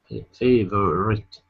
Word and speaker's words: favorite: Okay, so the O is gone. We don't pronounce that at all. So it's favorite, favorite.